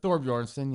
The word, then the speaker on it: Thorbjornsen: Michael Thorbjornsen. Did I pronounce that right? Thorbjornsen, yeah.